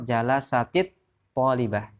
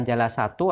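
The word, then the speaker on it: جلست الطالبة: Maka sukunnya cara bacanya adalah menjadi kasroh jalasatit talibah. Bukan jalasatu ataupun jalasata, tapi menjadi jalasatit talibah. Ini aturannya demikian.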